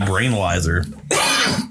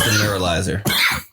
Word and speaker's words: neuralizer: Points for the MIB brainalyzer. It's the neuralizer.